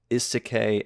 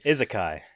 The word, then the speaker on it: isekai: trying my best to still like learn the pronunciation uh but this is considered it's one of the earliest isek animes which is a isekai yeah isekai sorry uh which means different world